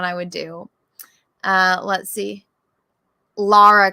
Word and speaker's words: Lara: Lara Croft, not Laura.